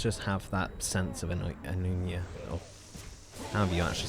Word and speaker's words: anemoia: I'm assuming it's Anomia. It looks like the shortened version is Anemoia. So I'm assuming Anomia. Really nice if they actually, you know, put it somewhere. Anemoia. Yeah, Anemoia. Okay, so that's how you say it, Anemoia.